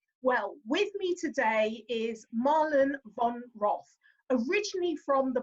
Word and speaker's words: Marlen: Marlen, perfect, yeah.